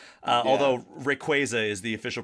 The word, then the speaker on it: Rayquaza: Uh, although Rayquaza is the official pronunciation I learned from Sarah Natenny when she came on the podcast.